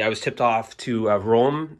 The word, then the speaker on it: Röhm: And finally, I was tipped off to Röhm, I believe is how it's pronounced, Rohm with a umlaut.